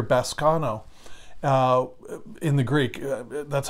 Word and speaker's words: baskano: It's interesting, the word that he used here, baskano, in the Greek, that's how I pronounce it, B-A-S-K-A-N-O.